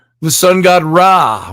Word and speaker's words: Ra: shu the sun god ra or ray rah it's ra is said to have traveled through the sky across the body of nut enlivening the world with his light and at night ra passes between the western